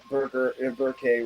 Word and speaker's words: Berkay: It's Berkay, but don't worry about the pronunciation. It's a hard name to pronunciate. I know. You want to get it right. You don't want to. Yeah, you don't want to. It's like happy birthday, but with a K.